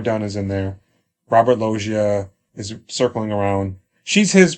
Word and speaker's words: Loggia: Robert Loggia, right? Is that how you pronounce his name? Loggia.